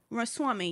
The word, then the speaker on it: Ramaswamy: Ramaswamy, yes. I mean, we butchered his name, but y'all know who we're talking Definitely about.